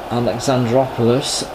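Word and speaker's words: Alexandroupolis: a well provided that's how you say it alexandraopolis and again oh no he's a little bit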